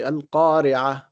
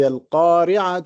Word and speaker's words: القارعة: And when we pronounce القارعة, we say القارعة. But if you continue, you say القارعة ما القارعة. So the ta would be pronounced if you continue, if you connect.